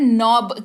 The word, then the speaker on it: knob: KNOB, नॉब, यहां पर भी देखिए K साइलेंट है तो इसका उच्चारण नॉब किया जा रहा है।